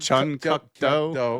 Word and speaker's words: Chun Kuk Do: Yeah, how you pronounce it? Chun Kuk Do.